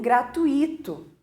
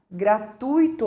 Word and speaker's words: gratuito: para anunciando né que a palavra gratuito e as pessoas normalmente dizem gratuito é ou entrada gratuita quando a correta pronúncia seria gratuita ou gratuita é porque eu tô posicionando a sílaba tônica no tu e não